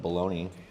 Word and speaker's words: Bologna: Well, the last part of that is spelled like bologna.